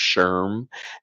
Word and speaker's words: SHRM: I believe it's pronounced SHRM.